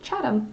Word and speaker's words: Chatham: what I was saying thank you Chris I won't make that mistake now but I've only read it you know like on the map so forgive me for my ignorance but I shall now pronounce it Chatham so anyway uh yes